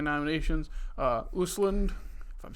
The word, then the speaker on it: Östlund: Wistland. Yeah, I think the two things over the O make a U sound.